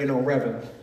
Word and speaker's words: REBAL: So it's spelled REBAL, but I play off of the word, rebel. So that's why I got the hashtag Rebel for Christ.